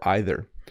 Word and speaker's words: either: I was to say the word either is pronounced two ways we say either or either if you don't believe